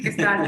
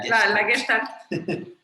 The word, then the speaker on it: Gestalt: Cada vez que tengo que decir esa palabra, me tengo que regañar internamente de no digas Gestalt, se escucha muy mamón. Di Gestalt y ya cállate la boca. Bueno, la Gestalt.